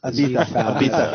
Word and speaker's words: Ibiza: Now, did they pronounce it Ibiza or Ibiza? Ibiza. It's the TH.